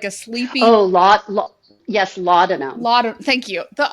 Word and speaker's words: laudanum: I'm going to pronounce it probably incorrectly. Laudrum or they it's like a sleeping Oh, yes, laudanum.